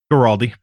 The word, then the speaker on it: Guaraldi: Guaraldi.